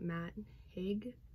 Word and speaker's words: Matt Haig: first up we have the midnight library by matt haig and that's how you pronounce this name i'm terrible with pronouncing names